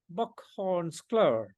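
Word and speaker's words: bockhornsklöver: And in Swedish, they call it bockhornsklör. Yes? Did I pronounce it well?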